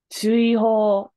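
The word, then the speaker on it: 追放: Chuiho is how you say it.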